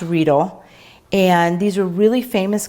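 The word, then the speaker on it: Riedel: they're german they're called ridle almost like needle it's pronounced reedle and these are really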